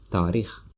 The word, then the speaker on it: таърих: History, таърих, or some people say taърих. So you can say taърих, but you see, because of letter A, alomati sakta, Tajik letter, you may pronounce it like long A, taърих.